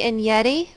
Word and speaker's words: Enyedi: my name is and yeti last name rhymes with spaghetti so across muster of